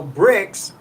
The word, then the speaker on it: Brix: So Bricks is spelled Brix.